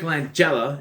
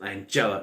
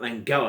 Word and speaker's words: Langella: as um chip hazard frank langella and that's how you pronounce it angela not langella and his thoughts of